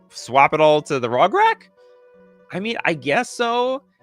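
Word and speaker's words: Rograkh: Yeah, it is pronounced Rograk.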